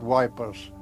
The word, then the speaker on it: Ypres: The word yip is a difficult word to pronounce to us. So we simply called it wipers.